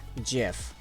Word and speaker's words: GIF: do this like the the inventor of the GIF said he pronounces it as Jif and you can't say